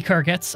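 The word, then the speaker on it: Khuzait: became um the nords the h is silent and in carrots well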